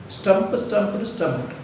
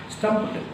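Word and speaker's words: stomped: Stumped. Not stumped, not D sound. ED should be pronounced as a T sound. Stumped.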